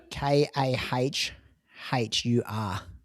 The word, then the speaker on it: Kahur: K A H U R Kahur. That's how it's pronounced.